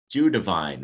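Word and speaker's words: Judevine: I'm going to ask you to confirm when I first when I pronounce this. It's Judavine, right?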